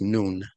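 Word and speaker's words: نون: noon means okay okay noon is actually one of the letters in Arabic and you pronounce it just like you pronounce noon like the sun is right above you you pronounce it exactly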